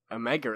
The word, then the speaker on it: omega: m in music yeah and omega is apparently pronounced like the oh it's sore oh wow okay like what or or or like the word or yeah oh now i